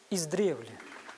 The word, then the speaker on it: издревле: и узнаем каков же правильный ответ правильный ответ издревле Абсолютно верно раз два три Отлично Отлично Поставьте правильное ударение свекла или свекла или свекла тоже 50